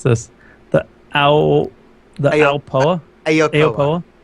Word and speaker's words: Aopoa: So I'm gonna try and pronounce this. The Aopoa. Aopoa. Aopoa. It's Aopoa.